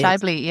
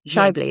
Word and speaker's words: Scheibel: And I think, this month we have, obviously this is December, we have Scheibel, who is Shibely, on the PAC committee. Shibely, is that right?